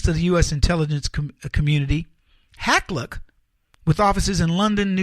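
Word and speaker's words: Hakluyt: Meet London-based Hacklook & Company. Let me spell it for you so you can look it up. H-A-K-L-U-Y-T, Hacklook.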